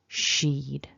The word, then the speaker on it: she'd: contract we're squashing it down into one sheed sheet so you want that to glide flow smoothly so thinking about some